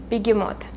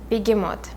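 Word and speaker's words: Behemoth: cat the black cat and his name is bigimot bigimot and bigimot actually means hippo like it's an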